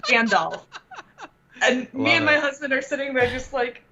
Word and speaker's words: Gandalf: wanted to include it in what like the little talk that he was giving, and he pronounced it Gandalf Oh. instead of Gandalf.